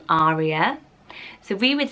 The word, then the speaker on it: Aria: But similarly, lots of people say Aria, and have a stronger A at the beginning of it. So how would you pronounce this? Aria is Italian for air, which is gorgeous, and in Italy they pronounce it Aria with a strong A. So that's one way of using this name. Or Aria is a solo in an opera, and another way of pronouncing it, which seems to